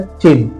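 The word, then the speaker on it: Qin: इसकी स्पेलिंग आप देख रहे होंगे क्यू आई एन है बट इसे प्रोनाउंस किया जाता है चीन।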